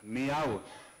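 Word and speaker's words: Millau: this is the uh one of the latest meow I used to call it mil till I was corrected it's pronounced I'm told as me Viaduct this is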